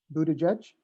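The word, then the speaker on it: Buttigieg: of recommendations uh that we forwarded to secretary buda judge tell me when to click please yes that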